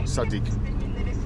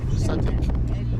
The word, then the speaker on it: صديق: Sadiq. Sadiq.